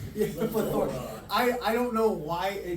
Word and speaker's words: PLeThorA: we like to put the emphasis on the wrong syllables.